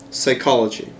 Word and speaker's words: psychology: um like that and then we have silent p okay uh pneumonia s psychology which we're going to